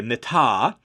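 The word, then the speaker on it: מִטָּה: verse in Genesis 47, they added the vowels I and A, mitah, while the Septuagint translators, who translated it before Christ, they read it as staff, mateh. Exact same consonants, just different pronunciation.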